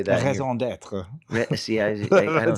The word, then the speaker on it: raison d'être: Raison d'être.